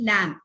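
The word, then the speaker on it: lamb: I say it lamp, L-A-M-B. I say lamp.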